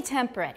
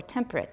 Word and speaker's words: temperate: Only temperate, right? Because that one might be a case of schwa elision, right? Temperate or temperate, okay.